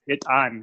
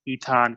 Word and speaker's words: Etan: an American word and in Amharic it is hit on comics but it's tough for people to pronounce so a lot of people say eat on tommix ETA and comics and I found it